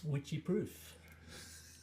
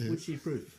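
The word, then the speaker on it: Wycheproof: Witchie Proof. It's spelled as you're saying. It sounds a bit like witchy poo, but it's witchy proof.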